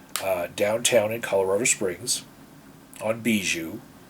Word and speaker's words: Bijou: It was actually downtown in Colorado Springs on Bijou. It looks like it's spelled Bayou, but it's actually Bijou Street, for those of you who are not from Colorado.